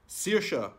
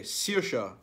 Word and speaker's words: Saoirse: Saoirse. Okay, Saoirse.